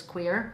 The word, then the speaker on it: Cuir: for mispronouncing it but this is pronounced as queer so queer is leather and French and Beluga is a